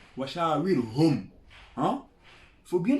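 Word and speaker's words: وشاورهم: Il a dit Washa'awirhu fil amr. Quand il dit Sha'awirhu fil amr, il a utilisé un pronom complément, singulier. Alors que c'est dit Washa'awirhum.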